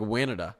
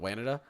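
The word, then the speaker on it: Wanatah: I almost said it like Wanada, like Canada, but Wanada. Okay, Valparaiso is pronounced Valparaiso.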